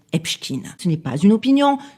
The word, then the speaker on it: Epstein: médias, tribunaux, enregistrement, archives, son nom est prononcé Epchkin.